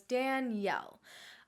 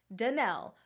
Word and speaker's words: Danelle: time first of all how do I pronounce my name I know it's confusing there's no I in it you're gonna have to ask my mom I don't know why she did it like that but she did you pronounce it though as if it did have an I so it's Danielle I got called Danelle for a very large portion